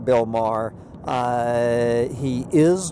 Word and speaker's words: Maher: My sister and her husband are huge fans of Bill Maher. I think that's how you pronounce M-A-H-R.